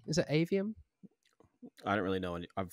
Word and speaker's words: Aveum: James am I pronouncing that correctly is it avum I don't really know I've forgotten but yeah yeah it is AVM uh the the studio behind the models of